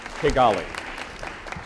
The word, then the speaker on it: Kigali: Could you spell it? Kigali? That's right. 4 points. It's Kigali.